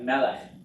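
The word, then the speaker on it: מלך: Okay, like melech, right, king? Accent on the first syllable, two segals.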